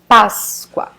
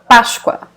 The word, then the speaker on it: Páscoa: Páscoa, Páscoa. So the S will be pronounced like this sound. Sh, sh, sh. Páscoa.